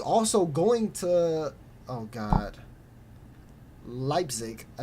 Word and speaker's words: Leipzig: top roster who's also going to oh god Leipzig I said it right nailed it is also